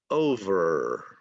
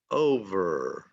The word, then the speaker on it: over: Okay, this word we don't pronounce the E at the end, so the last sound is the sound of the letter R. Okay, so we're studying English. We're studying English. Over, over.